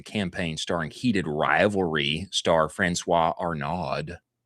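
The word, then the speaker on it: François Arnaud: They have a uh an athletic retailer announced a campaign starring heated rivalry star Francois Arnod. That's how you say his name last month.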